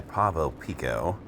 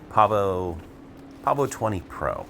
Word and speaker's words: Pavo20 Pro: After freshly wrecking my Pavo Pico, or no, Pavo20 Pro.